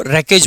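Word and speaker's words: wreckage: बचा हुआ मलवा है उसी को रेकेज बोला जाता है इसमें डब्लू आपका साइलेंट रहता है ठीक है अगला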